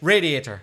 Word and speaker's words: radiator: Why did I change the stress? You'd stress. I'd say radiator. You'd stress the first syllable.